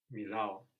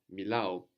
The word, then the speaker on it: μιλάω: But you may find exceptions, like those verbs ending ao or o with the accent on the end. So for example, how is I speak? Μιλάω. Milao. So for speak, you could go from the closed version, which is what?